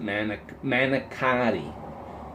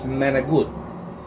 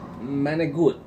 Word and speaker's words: manicotti: People pronounce it manicotti. It's not manicotti. It's manigut. Manigut.